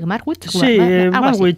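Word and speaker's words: Magwitch: ¿Cómo se pronuncia? Javi Marwit.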